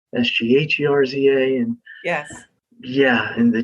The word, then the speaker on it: Sgherza: So that, phonetically it's spelled Skerza, but it's Sgherza.